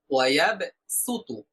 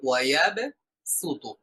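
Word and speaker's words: وَيَبْسُطُ: ওয়াল্লাহু ইয়াকবিদু ওয়া ইয়াবসুতু, রিওয়ায়াতে হাফস অনুযায়ী এখানে আমাদেরকে সিন দিয়ে উচ্চারণ করতে হবে, অর্থাৎ ওয়ায়াব সুতু, সিন দিয়ে আমরা পড়বো ওয়ায়াব সুতু, ওয়ায়াব সুতু। ভিন্ন রেওয়ায়াতে ভিন্ন ভাবে অর্থাৎ সদ দিয়েও পড়া যেতে পারে, তবে আমরা যে রেওয়ায়াত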